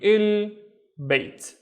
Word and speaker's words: البيت: So it would be il bait, البيت, which means the house, البيت. Let's look at this one. The first syllable starts here.